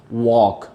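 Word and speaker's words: walk: वॉक जो word है इसमें एल की साउंड नहीं है। एल लिखा तो जा रहा है, स्पेलिंग्स में भी मौजूद है, जब भी लफ्ज़ लिखा जाएगा एल का जो अल्फ़ाबेट है वो शामिल किया जाएगा, लेकिन इसकी साउंड मौजूद नहीं है।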